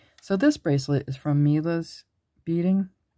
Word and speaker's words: Milla: So this bracelet is from Milla's Beading. I think that's how you pronounce it. Could be Milla. It's M-I-L-L-A.